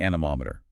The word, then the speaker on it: anemometer: First is the anemometer. a n e m o m e t e r Pronounced an- mom- ater.